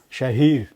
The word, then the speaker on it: Shaheer: Shahir Hussain. Better, please have a seat. Thank you. शाहीर pronounce करते हैं कि शहीर pronounce करते हैं आप?